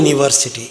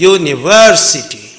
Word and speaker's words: University: University is the noun it is not your University it is University University so for these classes